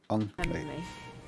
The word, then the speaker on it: Ung: Is it Ung? NG? Ung. Right.